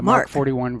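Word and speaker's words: Mk 41: have reserved places for MK point 41 vertical takeoff missile launchers that's pronounced mark the mark 41 vertical lines you okay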